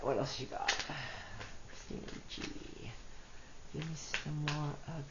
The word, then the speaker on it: Ricci: That's funny because Christina Ricci rhymes with kitsch witchy.